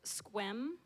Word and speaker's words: Sequim: nowhere what was the place called so it's pronounced Sequim but it's spelled s e q you I